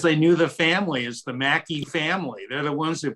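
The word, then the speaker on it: Mackay: Alaska flight but Robert how do you say the name of that trophy Mackie right it's the Mackie trophy so for years everywhere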